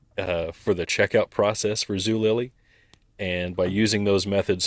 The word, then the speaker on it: Zulily: worked for the online retailer Zulily. Am I pronouncing that right?